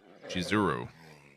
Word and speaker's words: Shizuru: them warned me that the name of the goddess is actually spelled and pronounced shizuru or that misspelling is